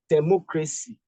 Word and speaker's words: democracy: Look at democracy. Democracy. Because of this, we stress from the back the third syllable.